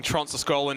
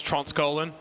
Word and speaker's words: Tronsaskolan: You remember how you hold me up for pronouncing Tronsaskolan as Tronskolan?